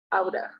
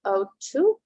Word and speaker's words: ought to: You know, in fluent English, we the pronunciation is like oughta, right? Oughta. You oughta take a break. Okay, so it's up to you which pronunciation you're gonna choose. Both are okay.